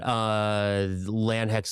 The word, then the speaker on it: Lande: And staying with that theme, also excited about the new solo album from former Muncie Girls singer-guitarist Land Hecht. That's Lande, Land, but pronounced like land.